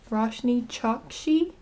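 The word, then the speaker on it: Roshani Chokshi: I looked up how to say her name and I think she said that the A is silent. So, it's Rashny Choxshi.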